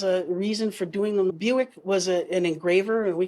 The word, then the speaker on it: Bewick: and their habitats and strangely pronounced Buick yes Buick crazy even though it looks like bewick bewick it's Buick it's Buick like crazy